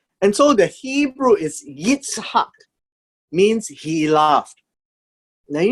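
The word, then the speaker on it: יצחק: The word laugh, or he laughed, right here, is Yitzhak. Very similar to the Arabic word, Itzhak, right? Itzhak. Although we may have pronounced it as Ishak, but it's actually Itzhak. And so the Hebrew is Yitzhak, means he laughed.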